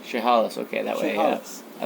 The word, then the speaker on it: Chehalis: Can you pronounce that? Yeah, Chehalis. Chehalis.